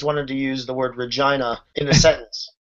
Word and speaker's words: Regina: to use the word Regina in a sentence? It rhymes with vagina.